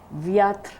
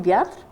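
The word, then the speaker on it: Wiatr: Viatr. His name was Leon, and mine was. This is the name. How do you spell that last name? The last name, Viatr, W-I-A-T-R.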